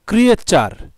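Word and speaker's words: creature: টি ইউ আর ই এখানে আমরা চার উচ্চারণ করি।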